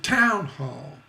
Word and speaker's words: town hall: don't say town hall you don't say town hall you say town hall both stressed syllables so keep in mind